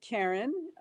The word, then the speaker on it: Karin: But I pronounce it Karin, so the English way, even though it's spelled with an I.